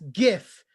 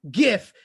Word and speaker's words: GIF: Right from Canada, all the way in Canada, it's the lady who and who knows how you pronounce GIF. And that's GIF, everyone. GIF. Did you hear me? GIF.